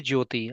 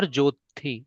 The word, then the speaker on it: ज्योति: You say Jyoti or Jyothi? What is your name Jyoti. pronunciation? Jyoti. Jyoti. Okay.